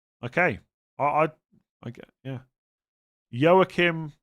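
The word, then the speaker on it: Joachim: Yookim. Yim. So it's not even Yokim.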